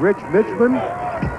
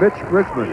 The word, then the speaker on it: Mitch Richmond: the press conference said his name has been butchered by more people in this tournament including us he's been called Rich Mitman Milt Richmond rich milman and it's Mitch Richman I'm going home in front of the mirror